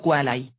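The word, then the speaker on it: quale: y otros el nombre cuale latín singular pronunciado quai Que rima con parlay y cualia latín plural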